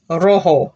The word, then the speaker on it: rojo: red rojo got it rojo because the j sounds like letter h class a rojo and